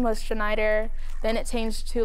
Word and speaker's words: Chenayder: you I'm good I said it right right shider yes okay yeah you get does does it